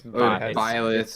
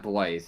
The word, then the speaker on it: Byleth: It's Byleth or Byleth. I don't know how to pronounce crazy names. I always thought it was Blythe, but now I know. It's definitely not Blythe.